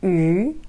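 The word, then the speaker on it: 鱼: Le mot poisson en chinois se prononce yu.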